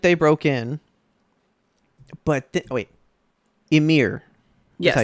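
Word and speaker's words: Ymir: Emir.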